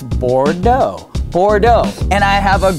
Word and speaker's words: Bordeaux: example bordeau right no drop the X and it's bordo Bordeaux and I have